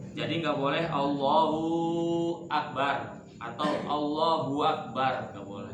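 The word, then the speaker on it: الله أكبر: Allah ditambah huruf wau Harusnya kan Allahu akbar dia bacanya wallahu akbar ya harus Allahu Akbar bukan wallahu akbar ya kalau dia tambah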